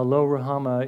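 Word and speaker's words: Lo-ruhamah: in verse 6 name her lo rouhama now Lo rahama is simply the the Hebrew Hebrew words this is the way we would pronounce it in Hebrew it means no mercy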